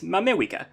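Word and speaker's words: ma Mewika: other major english dialects the letter r isn't pronounced very much like it's close but you can do better the main tokipona name for the united states is mamewika using wa as an approximation for english r so for a lot of languages you approximate there are sounds with le but for english you can use what instead obviously it's all very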